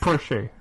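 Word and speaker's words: Porsche: so happy with myself there are there it's pronounced Porche it's pronounced Porche it's Porche I'm GNA have to put a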